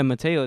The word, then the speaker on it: Mateo: Yeah, Mateo. That's how you pronounce it, basically.